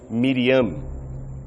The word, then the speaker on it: Miriam: Aliás, esta é a forma mais contrata do nome conforme a pronúncia grega, pois na língua original de Jesus, o nome Maria era pronunciado como Miriam.